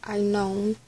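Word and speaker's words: Aenon: So I was saying it wrong, it's not even Anon, it's I known.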